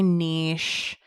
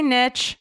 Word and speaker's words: niche: many of you say Niche especially my beloved Canadians shout out to Canada my second favorite country but I say Niche because it rhymes with Rich so that's that so